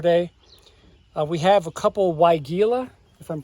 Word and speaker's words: Weigela: We have a couple Weigela, if I'm pronouncing that right. Wine Roses, the specific variety. Yes, Weigela.